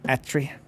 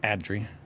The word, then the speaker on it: Atri: There's so many people I had to remember, but Atri, not Adri, you gotta say it like you're angry.